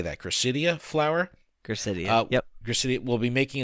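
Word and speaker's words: Gracidea: Gracidia.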